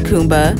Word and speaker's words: Kuumba: pronounced as kumba this principle is celebrated on december 31st and